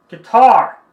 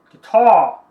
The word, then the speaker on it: guitar: Então, pode ser dita guitar, ou guitar, guitar, guitar. Lembra que o europeu, o R não é pronunciado.